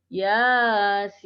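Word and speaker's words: يس: Nah, di sini ya dibaca 2 harokat. Ya. Kemudian huruf sinnya dibaca 6 harokat. Yasin, Yasin. Ya. Jangan ya-nya panjang, sinnya pendek. Yasin. Nah, jangan seperti itu.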